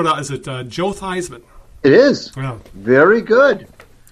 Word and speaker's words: Theismann: Or Theismann before he changed the pronunciation of his name. Right. Yeah. To rhyme with Heisman Trophy.